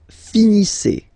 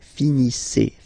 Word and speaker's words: finissez: Vous finissez. Vous finissez. Okay, EZ at the end gives you the sound E. Okay, finissez.